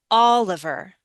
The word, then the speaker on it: Oliver: And try Ola. Instead of Ali, try with a short I. It's like a short I or even awah. Olive. Oliver.